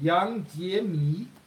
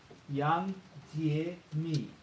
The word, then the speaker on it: Yang Jie-mi: How do you say that? Yang Jie-mi. Yang Jie-mi. Yeah. It's Chinese.